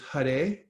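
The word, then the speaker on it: Hare: and 32 syllables and it's first starts with Hut a and that's how you pronounce that H a r e and it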